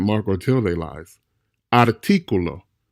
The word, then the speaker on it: artículo: Artículo, artículo, not artículo. Artículo doesn't exist in Spanish, and a native Spanish speaker will look at you very strange if you said that. Artículo.